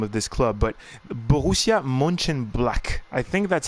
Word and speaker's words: Mönchengladbach: Captain is letting me know that you pronounce it Mönchengladbach.